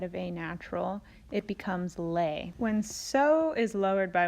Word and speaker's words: Le: a flat instead of a natural it becomes lay when so is lowered by one half step